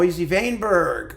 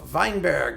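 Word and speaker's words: Weinberg: number one um and mo vainberg or mesl vineberg depending how you want to pronounce it his cello Certo which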